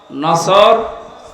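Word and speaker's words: نصر: এজন্য তেলাওয়াত যখন করবেন সওয়াদ উচ্চারণটা মুখ গোল করা লাগে আল্লাহ পাক জানিয়েছেন যখন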